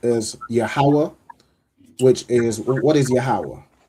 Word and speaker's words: Yahweh: Okay, so it is pronounced as Yahweh, which is, what is Yahweh?